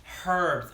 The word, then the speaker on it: herb: Why do Americans never pronounce the H in herb? Oh, herbs. I know. I'm from Ohio. It's just the way we say it. We just say herb.